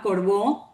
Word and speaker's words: corbeau: Esta uva se llama corbó, se escribe corbeau en Francia o dus noir, que se escribe noar, que son de origen europeo.